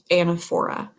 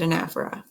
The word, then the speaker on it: anaphora: speech writers and Afra you might have had a teacher before who pronounced this anaphora it does not matter tomato tomahto I pronounce it a nefra but it doesn't matter to me at all so anaphora is